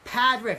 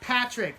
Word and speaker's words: Padrick: By the way, if you see this man, his name is Padrick, not Patrick.